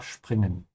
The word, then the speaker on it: springen: Make sure you pronounce springen with a sch sound. Because whenever the s comes before a p, it becomes a sch sound. Ja, springen.